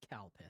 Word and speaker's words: Calpis: Uh, because they didn't want to put Calpiss on a bottle because the only way to pronounce it is Kalpus.